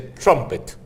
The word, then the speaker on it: trumpet: En inglés trompeta se dice trumpet. Se pronuncia igual que Trump y le agregas la ET al final.